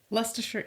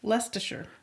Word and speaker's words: Leire: younger than my sister leerer England leire leerer leerer okay okay no really how do you say it leure leure mhm like L assured yeah I I guess